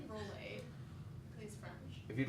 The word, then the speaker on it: Rolle: No, he's pronounced Rolle. I believe it's Roll.